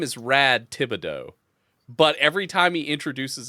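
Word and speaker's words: Thibodeaux: introduces himself he's like my name is Rad Thibidox and at one point in the show the main character Hank Hill looks at him and he goes, "Isn't that pronounced tibido?" And he's like, "Yeah, was pronounced wrong, but it's cool."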